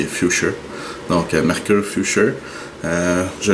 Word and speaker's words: Futur: qui est un Mercure future ou future mais la vraie prononciation c'est future donc mercure future euh